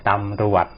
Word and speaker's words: ตำรวจ: ครับ จอ จาน หา จอ จาน สะ กด ล่ะ ครับ แต่ ออก เสียง เป็น เด็ก นะ ตำรวจ อะ ต่อ มา นะ